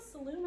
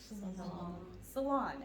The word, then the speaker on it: Salon: Is it Camille Saloon or Salon? Salon.